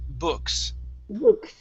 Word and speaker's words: books: books okay so here instead of saying boo books okay use an uh sound books good good nice job